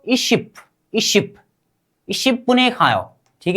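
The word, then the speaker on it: 이십: फिर से उच्चारण, ई सी बिल, सिर्फ इसको उच्चारण कीजिए 20 को, इशिप, इशिप, इशिप बुने खाओ, ठीक है, सोनून छिपे इशिप बुने खाओ।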